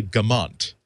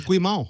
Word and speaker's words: Guimont: the wrong note I've been mispronouncing your name like all through the show CU I wrote it down like this uh and it's Kelly Gant and I'm maybe maybe